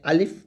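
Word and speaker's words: ألف: Cross দিয়ে বোঝানো হয়েছে আলিফ টান দেওয়া যাবে না।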